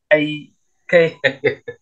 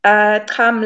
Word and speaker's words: Kxam: But it's Kxam. Don't forget that not the exclamation. It's that upward, not a forward slash, backward slash. It's a whole pronunciation. That. So that's a click.